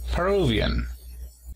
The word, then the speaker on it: Peruvian: Y para decir peruano, también el apóstrofo se encuentra en la segunda sílaba. Peruvian.